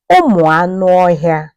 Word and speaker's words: Anụọhịa: The plural form, Anụọhịa.